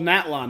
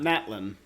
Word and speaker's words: Natlan: the captain's going to natlan and it's called natalon not Matlin which is what how I've been hearing it pronounced all right so the eel Capitano is